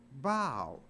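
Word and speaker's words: bough: but it's not pronounced buff it's pronounced bow so even though a and there the o u is pronounced like a long o o iof from the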